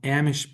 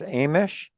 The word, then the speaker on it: Amish: pronounce correct pronunciation is Amish. Amish. Like the A has a long a long vowel sound. Like you pronounce it like the name of the letter A, but I could be wrong about that.